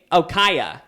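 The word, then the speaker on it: Kaia: How do you spell it? Kaya. K-A-I-A. Kaya.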